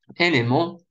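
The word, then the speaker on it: élément: Элемент. Элемент. Опять ЕНТ читается как он.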